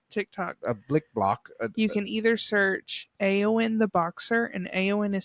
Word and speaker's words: Eowyn: You can either search Aowen the Boxer, and Aowen is spelled EOWYN.